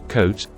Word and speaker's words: coat: As in coat, when the two vowels O and A are next to each other, walking, the first one, O, does the talking and the second one, A, is silent. The first one, O, does the talking means it has a sound, and that sound is a long sound, just like the name of the letter O.